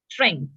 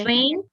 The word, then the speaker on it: strength: Strength. Yes, not Yes. strain. Please watch your pronunciation. The pronunciation is strength.